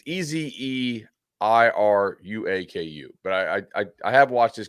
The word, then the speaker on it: Ezeiruaku: I think it's Ezeraku, but Okay. it's Ezeiruaku.